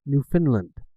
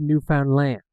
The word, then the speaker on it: Newfoundland: So I'm from a province in Canada called Newfoundland, but a lot of times it's pronounced New Finland or a lot of different other pronunciations.